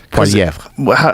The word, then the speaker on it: Poilievre: I mean, if you say it with the proper French accent, yeah, it's Poilievre.